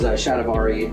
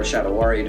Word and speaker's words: shatavari: A lot of these are Ayurvedic, I'm not sure how to pronounce that, traditional Indian herbs, such as shatavari or shatawari, depending on how you want to pronounce that, and quai.